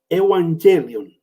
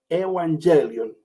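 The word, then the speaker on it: euangelion: Evangelio viene de la palabra griega, a ver si lo pronuncio bien, Evangelion. Evangelion. Eu, que quiere decir bueno o buena, y angelio, que quiere decir noticia o mensaje.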